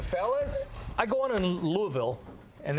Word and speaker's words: Louisville: I go on in Louisville and it's not Louisville Louisville Louisville it's one one syllable I think by the